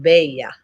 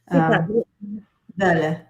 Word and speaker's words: bella: So in Spanish, you would say like the Belle, I think is pronounced Bella. And it means beautiful. Right. And same in Italian. Bella.